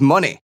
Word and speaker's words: Moné: stardom debut of Mercedes money so you know obviously it rhymes with money a play on her former ring name she now calls herself